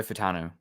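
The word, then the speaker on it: Fautanu: Troy Fatanu.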